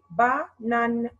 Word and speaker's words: bananes: What is the silent letter here? S. Bravo, because it's the last letter. Mark it in your book, please. S here is silent letter.